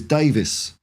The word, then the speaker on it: Davies: confused me about Ben Davies is I like because his name is spelled Davies I say Davies but everyone else that I hear everywhere says Davis so I don't know